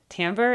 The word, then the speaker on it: timbre: Now, speaking of timbre, timbre is your particular vocal quality. The way to think about timbre, and by the way, it's spelled Timbre, French spelling, timbre.